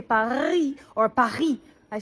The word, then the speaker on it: Paris: na po kayo ng Paris kasi sa French silent s yun pari ' ba mga Pilipino